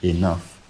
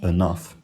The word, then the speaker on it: enough: English is enough, and for me that's still pronounced with an I today. I say enough, not enough.